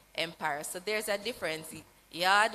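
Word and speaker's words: Yaad: Yard, Y-A-A-D, yes, so we have to pronounce it that way.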